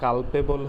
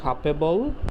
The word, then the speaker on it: culpable: হ্যাঁ, কাপেবল হোমোসাইড, এটা কিন্তু কালপেবল হোমোসাইড না, এটা উচ্চারণটা হবে কাপেবল হোমোসাইড।